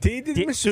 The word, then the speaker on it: tiramisu: Yeah, dude, I saw talking about tiramisu.